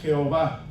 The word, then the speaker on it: Jehová: Y estas 4 consonantes después se les dieron vocales para poder pronunciarlas, y de acuerdo a la pronunciación en alemán se cambió la Y por J, por eso decimos Jehová.